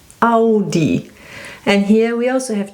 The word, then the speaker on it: Audi: It's A and U, A and U. And this is pronounced Au, Audi. So we say Au.